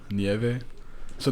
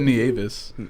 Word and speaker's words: Nieves: Nieve? So the S is silent? No. It's Nie- that's the easiest way to Nieves? like tell someone Nieve and then throw an S at the end.